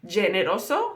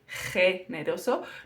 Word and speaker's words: generoso: ge, G, which generally English speakers tend to pronounce as G, so generoso, and it's not generoso, it's generoso. Notice it comes from my throat, G.